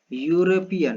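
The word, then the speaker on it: European: तो इसका जब आप प्रोनाउंसिएशन करोगे तो क्या मिलेगा? यूरोपियन मिलेगा, ठीक है। तो यहाँ पर आपको मिल रहा है कॉन्सोनेंट और जब कॉन्सोनेंट मिल रहा है तो हम यहाँ पर एन का यूज ना करके ए का यूज करेंगे।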